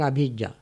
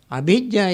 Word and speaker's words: abhijjā: It's called abhijjā. It's not the same as avidya. Avidya is spelled as A-V-I-J-J-A. V. Abhijjā is spelled A-B-H-I-J-J-A.